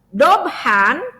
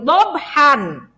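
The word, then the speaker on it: ضَبْحًا: Karena kita berhenti dan ini kebetulan di akhir ayat, maka dobhan dibaca dobha. Jadi kita tidak bagus kalau membaca itu, membacanya wal adiyati dobhan.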